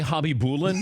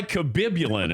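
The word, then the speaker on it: Khabibulin: Nikolai Habibulin. Yes, with a K. Yeah, it was Nikolai Kabibulin.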